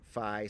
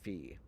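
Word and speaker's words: phi: of people mention that if we're going with the original pronunciations Pi becomes p as well so unless you're going to start calling Pi P maybe we should allow either pronunciation of fi SL Fe now um they recommend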